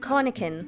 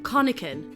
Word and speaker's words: Conachan: Conachan. Conachan.